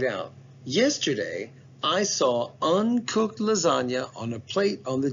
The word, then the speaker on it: lasagna: are 100 sure that's lasagna okay it might still be a good idea to write it down because don't you want to know why that g is silent why isn't it lasagna so you could get